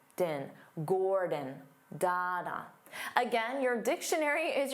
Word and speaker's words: Gordon: His name is Dada, Gordon, Dada, Gordon, Gordon. Because the first syllable is stressed, gore, so the second syllable becomes that unstressed vowel sound, din, din, Gordon, Dada.